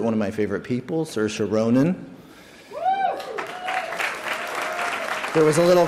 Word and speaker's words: Saoirse: It's not Seori. It's not uh it's not Seoray. It's not even sorcery, although it probably should be.